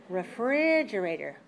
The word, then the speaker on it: refrigerator: syllable has to be lower now the first syllable how about that refrigerator tell me something about the reverse syllable refrigerator